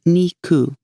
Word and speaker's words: niku: The 29th, 2 and 9, are pronounced niku, which sounds like nikurashi, and that, my friends, means hateful, loathsome, or detestable.